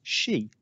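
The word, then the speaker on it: し: Four is pronounced she, as in she was counting to 10 in Japanese.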